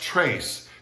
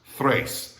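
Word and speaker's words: tres: so it's not pronounced trace it's pronounced thrace as you would say three not tree as you would say throw not troll alright the tr in spanish is always pronounced like a t-h-r so it happens in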